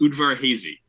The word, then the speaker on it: Udvar-Hazy: I went and looked up like how do you pronounce it. It's Udvar-Hazy, and it's Udvar-Hazy Air and Space Museum.